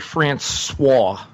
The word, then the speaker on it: Francois: DeAndre Francois. I mispronounced the last name for the Florida State